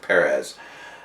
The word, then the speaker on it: Perez: It's George Perez.